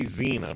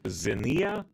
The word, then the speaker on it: Xenia: Because I want to say Xena, but it's Xenia.